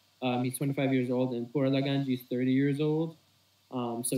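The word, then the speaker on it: Pouraliganji: Is Puralaganji. Do you want me to spell it out for you? Yeah. So, Poura. Wait, can you repeat that again? Sorry. Yeah, Poura.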